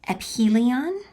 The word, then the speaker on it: aphelion: So this word right here is aphelion, and this word right here is perhelion, okay?